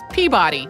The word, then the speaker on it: Peabody: just said it but in a lot of the rest of the US it's Peabody like it's spelled and those different pronunciations